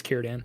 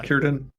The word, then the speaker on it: Círdan: I believe it's Círdan. I think It's Círdan, yeah. Yeah, Círdan, hard there's C. hard C's in Tolkien.